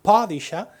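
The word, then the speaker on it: Padishah: El Padisha tenía una alumna turca en Viena que cuando hablaba de Dune insistía en señalarme que pronuncio mal padisha porque el padisha, recordad, el pad shadam cu es el título del emperador otomano. La traducción al castellano de Padisha, al fin he conseguido decirlo bien, es sultán.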